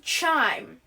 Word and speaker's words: chyme: This initially results in the production of chyme. Not like wind chimes, but it's spelled chyme, which then fully broken down in the small intestine is absorbed by chyme.